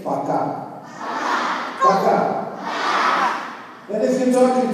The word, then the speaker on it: пока: And to say bye, to say пока.